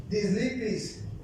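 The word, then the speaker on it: θλῖψις: Esta palabra, mis hermanos, en griego se pronuncia dislipis y significa presión, presión literal o figurativa, estrechez, aflicción o angustia.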